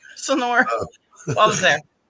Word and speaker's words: Sonora: Sonoa. Whatever. Sonoa. I know how it's spelled, but Sonoa. Yeah, you gotta put an R in it if you're really Sonora. Sonora.